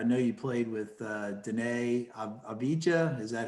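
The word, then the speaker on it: Deni Avdija: out there i know you played with uh danae abijah is that how you pronounce it danny avita yeah um what i got no he's obviously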